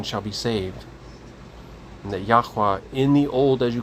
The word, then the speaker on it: Yahuwah: And we believe that is pronounced Yahuwah. But either way, it's not pronounced God or Lord.